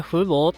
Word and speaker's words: 和博: この平和の和に博士の博と書いて、中国語でフーボーというブランド、